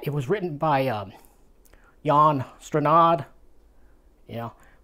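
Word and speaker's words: Jan Strnad: Jan stranad you know when I was a little kid I used to pronounce it Dan strand s-t-r-n-a-d can't be strand but that's how my mind worked it out but it's yawn strandon anyway uh and with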